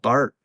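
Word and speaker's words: Barth: German yeah you just the th is hard I guess for German speakers and so you just drop that H and just it's yeah it's just good old Bart so yeah so you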